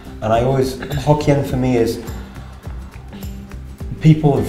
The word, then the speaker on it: Hokkien: But Fujian, pronounced in Taiwanese, is Hokkien.